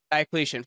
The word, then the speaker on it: Diocletian: But I've heard you on a number of occasions talk positively about, how do you pronounce it? Diocletian? Diocletian.